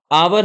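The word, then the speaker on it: hour: आवर है, हावर नहीं पढ़ेंगे, ठीक है, हम लोग गलत प्रोनाउंसिएशन करते हैं, आवर पढ़ते हैं इसको।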